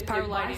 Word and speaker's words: pyrrolidine: It's pyrrolidine. I'm going to say it wrong like 400 times, but it's pyrrolidine.